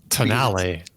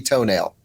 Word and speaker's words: Tonale: hybrid Alpha Alfa Romeo toenail I think that's how you say it tonale no t-o-n-a-l-e is definitely toenail it's the toenail yeah no this is America